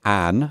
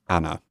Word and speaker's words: Anna: And also, by the way, it's important to remember, in English we say Anne, but in German it would be pronounced Anna.